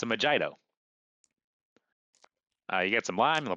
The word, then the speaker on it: mojito: say did she just say vagito? Yeah, it's a Mojito. You get some lime, a white rum, and some mint. Oh, you two are cute. It's my favorite drink. It's pronounced mojito.